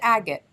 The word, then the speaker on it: agate: that to say got a lot of fun agates on the table and it is pronounced agate we'll just start there if you have ever